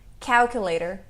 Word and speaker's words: calculator: Também é na primeira sílaba. Calculator. E essa aqui.